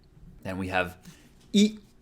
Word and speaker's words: い: Then we have E. E is pronounced like E in eel. You have to be careful here because in eel, it's a long vowel, eel, whereas in Japanese, it's a short one, E.